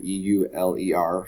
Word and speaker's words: Euler: the gentleman's name here e-u-l-e-r so euler kind of kind of is spelled like o-i-l-e-r like in the football team the houston oilers so euler was the